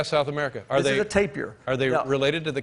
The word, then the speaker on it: tapir: you spell the word t-a-p-i-r oh so it's taper tape it depends on how where you're from pronouncing it i say tapir but you write paper